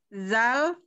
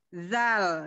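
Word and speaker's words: ذ: Kalau zal, zal pengucapannya apa lidahnya digigit sedikit. Jadi ada getaran di lidah kita. Zi, zi gitu ya. Zi, kalau pengucapannya zi. Kalau secara pelannya saya kasih tahu zi, zi. Jadi kita ada sedikit getaran di ujung lidah.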